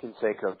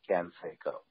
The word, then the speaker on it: Canseco: the is he lon pronounced his name with a little bit of a flattened Midwestern accent if you will he called him Ken Seco and um bill would